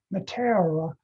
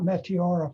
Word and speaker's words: Meteora: how to say it the accent is on the wrong is on a different syllable than you find comfortable so so this is pronounced matera uh not meteora for example anyway that's trivial um